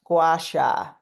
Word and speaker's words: Gua Sha: Gua Sha is a Chinese word. It's pronounced Gua Sha.